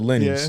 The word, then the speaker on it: Lanny's: It's spelled Lanny's, but we called it Lenny's.